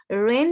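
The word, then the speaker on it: wren: ही हु shall hurt the little one, रेन यहाँ पर आ जाएगा, ये भी एक वर्ड है, डब्ल्यू साइलेंट हो जाएगा इसका।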